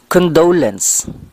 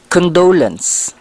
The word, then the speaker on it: condolence: in English sentence I condolence we have to put the stress on the second syllable pronunciations I condolence condolence sentences if you want